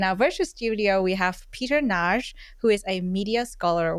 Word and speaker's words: Peter Nagy: So today in our virtual studio, we have Peter Nagy, who is a media scholar working at Arizona State University as a lecturer.